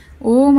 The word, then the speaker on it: ಓಂ: ಇನ್ಹೇಲನ್ನು ಮಾಡಿ, ಬಿಡುವುದನ್ನು ಮಾಡಿ, ಹಾಗೆ ಎಕ್ಸೇಲನ್ನು ಮಾಡಿ, ನಂತರ ಪುನಃ ನಿಧಾನಕ್ಕೆ ಉಸಿರನ್ನು ತೆಗೆದು ಇನ್ಹೇಲನ್ನು ಮಾಡಿ ಓಂ ಅಂತ ಉಚ್ಚಾರಣೆನ ಮಾಡಿ. ನೋಡಿ ಫ್ರೆಂಡ್ಸ್, ಹೇಳ್ಕೊಡ್ತೀನಿ ಒಂದ್ಸರಿ ಅಂತ ಇನ್ಹೇಲನ್ನು ಮಾಡಿ ಓಂ ಅಂತ ಮಾಡ್ತಾ ಹೋಗಬೇಕು.